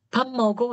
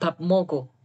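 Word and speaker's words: 밥 먹으러: gitu bab mogero gajah Cuman karena bab mogero Gajah itu B ketemu m itu kan jadinya m ya makanya orang Bam mogo gitu Bukan bab mogo Coba dengerin orang Korea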